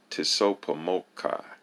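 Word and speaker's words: TSOPAHMOCCI: of civilized cultural information for short it is pronounced tisso pomokai and is an acronym that is spelled t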